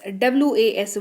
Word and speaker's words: was: WAS was, इसको पढ़ते हैं, लास्ट में हल्का सा ज का साउंड आता है तो was मत पढ़िएगा इसको, was इसको पढ़ते हैं, याद रखिएगा उच्चारण को।